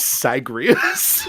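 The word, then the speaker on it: Zagreus: That's not Zag. Zag, my man. I got your name wrong. My name is Sagrias.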